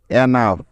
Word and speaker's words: enough: সুতরাং ENOUGH মিলে হয়ে যাবে এনাফ।